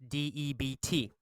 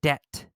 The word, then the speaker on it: debt: elimination the word debt d-e-b-t the B is quiet the B is silent it's pronounced debt debt debt a debt